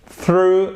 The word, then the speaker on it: through: Ce n'est pas zrou. Ceci est un soft TH. Le TH, il y a deux façons de le prononcer. Soit vous le prononcez en soft, soit vous le prononcez en hard. Je vous mets les deux symboles de phonétique. Vous pouvez pas le deviner, ça vient que la pratique ici, c'est un soft.